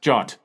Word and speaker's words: JWT: in the format of a JWT or Json web token sometimes pronounced jot that is created by